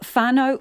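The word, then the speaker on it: whānau: speaks today or Marty she drops the H in WH words and pronounces it as though it was just a w that's because she's from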